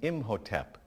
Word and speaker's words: Imhotep: This pyramid was for King Zoser, that's spelled Z-O-S-E-R, in about 2650 BCE. It was built by an architect named Imhotep, I-M-H-O-T-E-P.